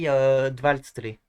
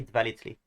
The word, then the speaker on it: dvaltli: but I guess maybe dvaltli. It's not very easy to pronounce, but or you can say dvalitli. Or you can also remove the application, so it would be valitli.